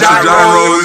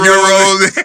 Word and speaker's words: gyros: He pronounced gyros. It was supposed to be euros.